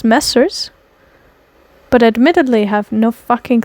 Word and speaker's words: Messrs: Okay, so it's MESSRS, which I would pronounce Messers, but admittedly have no fucking clue what the hell that is.